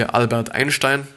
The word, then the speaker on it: Einstein: and were introverts, like Albert Einstein, or actually Albert Einstein, to pronounce it actually correctly, Bill Gates and J.K.